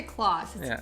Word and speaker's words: Klaus: you've got clothes house I always say it wrong it's not we always say Klaus Klaus yeah then you have on you I'll tell you what mr.